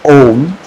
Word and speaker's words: Om: Use your thumbs, close your ears, and then chant Om with more stress on the last sound, which is Ma.